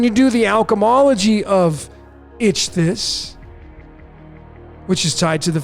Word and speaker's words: Ichthys: That's how I pronounce it. Ichthys.